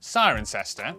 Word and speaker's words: Cirencester: But before you get too reassured, for every rule in the English language there are always exceptions, such as the cester in, Cirencester.